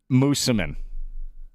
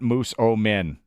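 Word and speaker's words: Moosomin: Mooseman. Mooseman, not Moose-O-Min, like it's spelled.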